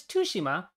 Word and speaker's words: Tsushima: know Jen and other Japanese speakers I've seen pronounce it as toua which I seek to imitate but I'm told by a friend I'm overstressing the tea I'm only saying all